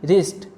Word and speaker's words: wrist: इसी तरह राइट, wrong, road, wrapper, इन सभी वर्ड्स में WR साथ में है, इसलिए W साइलेंट रहेगा, W की कोई साउंड नहीं आएगी।